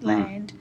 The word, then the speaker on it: island: second bit's pretty easy land l a n d so it's that first syllable we've got to think about that silent letter right here isn't it